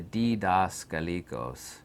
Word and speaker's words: Didaskalikos: The Didaskalikos. Just phonetically say that out yourself.